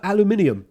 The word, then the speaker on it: aluminium: else do you have it's that metal uh aluminium i'm like yeah right okay aluminum that's awesome that makes sense because that's how you pronounce that word we call it aluminum and i swear all three of these like seven like seven five-year-old kids they're like making fun of how we say aluminum and it's warranted because